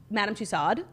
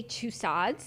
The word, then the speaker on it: Tussaud: madame two stoves yeah people say like madame tussaud because there's a d but like it's french they say two sods yeah like i always